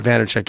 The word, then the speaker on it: Vaynerchuk: Vaynerchuk, yeah.